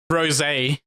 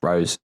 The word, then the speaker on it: rosé: Rosé. I think it's pronounced rose.